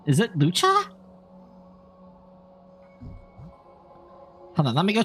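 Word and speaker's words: Luocha: I can't pronounce his name. Blade, Lady Jade. This is the guy I was talking about. Lucha.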